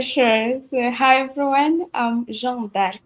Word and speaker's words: Jeanne d'Arc: so hi everyone um Jean dark it's the French name I'm Jean dark Jan Jan D Jan it's a French name d oh Jan Jan I don't know if I pronounce but the easiest way you you can just use Jane that's the easiest way J because it has an English version just your J as in short okay so okay so